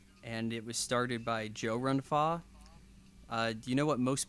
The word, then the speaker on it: Chow Yun-Fat: And it was started by Joe Run-Fa. Do you know what most people call Joe Run-Fa in America? No, tell me. Chow Yun-Fat.